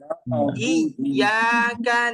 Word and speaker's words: إياك: مالك يوم الدين إياك نعبد إياك إياك نعبد نعبد إياك نعبد إياك إياك نعبد نعبد অনেকে কিন্তু এভাবে উচ্চারণ করছেন, ইয়ে না, ইয়া, ইয়া আলিফ জবর ইয়া, ইয়াকা না'বুদু, إياك نعبد نعبد আইনকে আরো চাপ দিতে